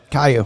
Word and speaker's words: Caillou: Kalu? Where is it? The little kid. CAILLOU. Caillou.